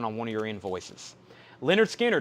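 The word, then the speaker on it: Lynyrd Skynyrd: one of your invoices leonard skinner pronounced leonard skynyrd is a vg coffee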